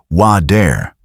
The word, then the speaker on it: water: Sometimes it becomes softer, almost like a quick D. Think about the word water. Many Americans pronounce it closer to water.